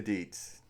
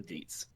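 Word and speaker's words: Deetz: of consent okay okay stop saying that it's it's it's deia Deets de Deets okay wrong Ryan you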